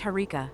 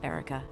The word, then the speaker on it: Harika: But it's Harika, not Erica.